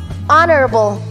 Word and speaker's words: honorable: third word is honorable honorable now the word stress here is on the first syllable honorable not honorable these businessmen are both